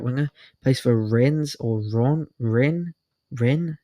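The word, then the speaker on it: Rennes: Plays for Ren or Ron Ren. Ren, I think it's pronounced Ren in France.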